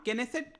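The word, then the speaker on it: Knesset: तो ध्यान रखिएगा इसका नाम केनेसेट करके इसको प्रोनाउंस किया जाता है और इसको ये सिंगल हाउस है जहां पर 120 मेंबर्स होने चाहिए।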